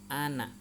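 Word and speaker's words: أَنَا: Tulisannya ana panjang, tapi di atas alif ada tanda berbentuk oval, maka cara membacanya harus dibaca ana.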